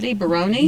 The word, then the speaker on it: Baroni: Baroni, yeah, playing Baker.